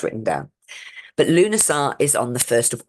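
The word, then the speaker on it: Lughnasadh: look at that you kind of go o Lugar but actually it's pronounced lunasa which doesn't look anything like that when it's written down but lunaa is on the 1st of August and this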